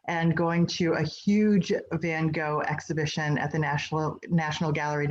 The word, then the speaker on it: Van Gogh: And so I think if we were going to be really authentic, it would be something closer to Van Gogh, but I'm just going to do it the American way, which is Van Gogh.